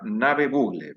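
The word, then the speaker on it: Ngäbe-Buglé: Wilfredo Mitre es líder comunitario de la comunidad Soloy, comarca Ngave Bluge, se pronuncia Nave Bugle, pero bueno, perdón por no pronunciarlo bien.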